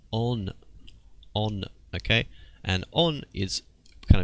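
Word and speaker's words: 音: brackets here, this is this kanji is pronounced as, well, it's oto. This means sound. All right, this is a good word to learn. But here we read it as on, okay?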